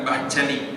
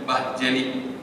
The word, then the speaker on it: Bahçeli: Kemudian di sebelah kanan itu adalah dari partai sekuler yang lain, MHP, Devlet, V itu seperti wow, jadi Devlet bacanya, ya, Bahçeli, bukan Bahçeli, Bahçeli.